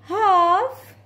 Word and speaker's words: half: let's do it together it's half silent l half past 11 it's half past 11